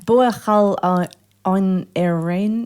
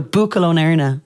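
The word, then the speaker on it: Buachaill ón Éirne: Buachal on Erain? No. So Buachal on Erna.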